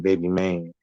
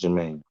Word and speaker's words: Jermaine: Jermaine, lots of people mispronounce his name, Baby Maine. That's not his name. His name was Jermaine.